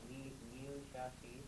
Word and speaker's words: Liu Shaoqi: Liu Shaoqi. Very good, and well pronounced too.